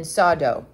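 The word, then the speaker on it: Soddo: christians had come for the bible convention in sawdo that's spelled s-o-d-d-o many tribes inhabit this country he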